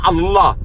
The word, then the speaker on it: Allah: C'est pas Allah, non, c'est Allah. En fait, c'est deux L qui ne se prononcent pas, qui se confondent.